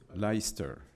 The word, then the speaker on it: Leicester: Je ne sais jamais comment ça se prononce. Leicester.